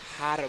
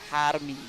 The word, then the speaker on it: Jaramillo: Jaramillo. The J is said like an H. Jaramillo. Yeah. And the double L's is smelled like a ilo. Jaramillo.